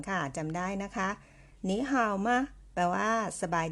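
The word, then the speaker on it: 你好: ว่า อัน นี้ ข่าว หนี ห่าว จำ ได้ นะ คะ เสียง สาม มา เจอ กับ เสียง สาม เรา ต้อง เปลี่ยน เสียง 3 ตัว แรก ออก เสียง เป็น เสียง 2 ค่ะ กลาย เป็น นี้ หนี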